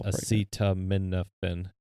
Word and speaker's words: acetaminophen: consume or take acetaminophen, and it's acetaminophen. I've heard some mispronunciations of that word.